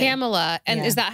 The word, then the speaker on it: Camella: in Mexico they say kameha oh but wait so how what's the correct pronunciation it's Pamela with the c Pamela with the c camela and is that how